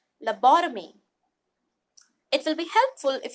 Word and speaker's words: lobotomy: treat some mental disorder let us look at the phonetic note lo bought of me and then let's combine it lobotomy it will be helpful